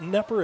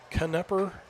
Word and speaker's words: Knepper: 70 Maddox knepper and it's not nepper it's kanepper k-n-e-p-p-e-r no silent k on that one 15 seconds and